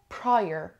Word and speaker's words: prior: یادتون باشه که وقتی آر رو دارین تلفظ میکنین، انگار زبونتون اینجوری، اگه این زبونتون تو حالت عادی باشه، انگار زبونتون اینجوری prior، نه ببخش، اینجوری میشه، میره بالا.